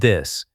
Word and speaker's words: this: Many learners struggle with the tat sound in words like the and this. Watch my mouth. Put your tongue lightly between your teeth and blow air gently.